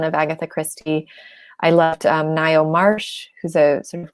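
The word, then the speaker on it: Ngaio: read a ton of Agatha Christie I loved Nile Marsh who's a sort of classic mystery writer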